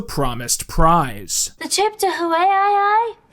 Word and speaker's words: Hawaii: The trip to Hawaii? It's pronounced Hawaii. I thought it was Hawaii.